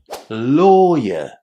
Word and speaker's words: lawyer: But if you remember that all you need to do is pronounce the first syllable with a long o sound, it's going to be easier to say lawyer.